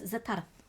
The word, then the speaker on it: Zatara: him his name is zatara and if you don't roll the r you're saying it wrong they grabbed they held